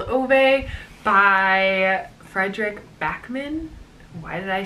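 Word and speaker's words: Fredrik Backman: The next book that I loved in 2017 was A Man Called Ove by Frederick Backman. Why did I say it like that? Frederick Backman.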